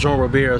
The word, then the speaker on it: Jean Robert: Jean and Gail, actually my father's Haitian, his name is actually pronounced Jean Robert. Well, okay. It's pronounced Jean Robert, so it's the Jean and Gail Cantave Foundation.